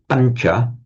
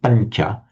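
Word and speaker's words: pañca: which is a pancha, we write that tilde sound over the n because it's a slightly palatized sound. Pancha, not pancha or pancha, but pancha. So the n is slightly palatized before the following sound ch.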